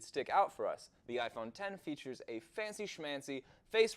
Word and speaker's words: iPhone X: one of which is the new iPhone X, pronounced iPhone 10.